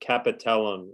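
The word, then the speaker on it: capitellum: Just one quick point just for just pronunciation of the so capellum is what is how you pronounce that part where the radius articulates with the elbow.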